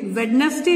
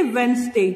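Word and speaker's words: Wednesday: सोमवार को बोलते हैं मंडे, मंगलवार को बोलते हैं ट्यूसडे, बुधवार को बोलते हैं वेडनेसडे, वेडनेसडे नहीं बोलते, वेडनेसडे, डी साइलेंट होता है।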